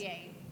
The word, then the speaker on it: Viens: It's Viens. Oh, Viens, like in Brennan.